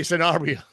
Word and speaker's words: Sanabria: He lets me say Sanabria, or he lets me say Sanabria. Sanabria is the right way to say it.